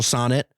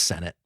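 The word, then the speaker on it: Sennott: friends IO and Rachel it's Senate damn it I knew I said it wrong Rachel Senate and IO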